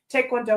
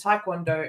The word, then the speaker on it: taekwondo: Instead of being properly pronounced as taekwondo, it's mispronounced as taekwondo. But the actual pronunciation is somewhere between those two. Like the Korean pronunciation is somewhere between those two anyway.